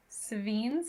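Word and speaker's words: Sevinne's: Ooh, here is the fun of Savines is how I pronounce that.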